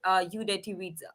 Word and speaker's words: Udeti: I mean, because I said it UDETI visa, and Hmm.